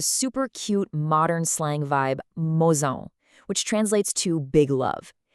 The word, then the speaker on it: mozão: focus heavily on nailing this slightly tricky pronunciation, mozão. Notice that little tilde over the A. That indicates a nasal sound, almost like you're speaking the end of the word through your nose, mozão.